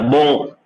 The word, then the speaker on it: bon: Yeah, bon. Yeah, bon. Aywa. See, make sure you are by mistake not pronouncing the sound for N. It is not N. Okay. It is not bon. Okay. It is bon.